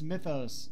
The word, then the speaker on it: Mythos: Which I really wish they would actually pronounce mythos instead of Mjothrof.